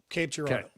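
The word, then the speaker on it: Cape Girardeau: It's hard to pronounce. It is Oh, is it is it Cape Gerardo? Yep. Cape Gerardo just came to me.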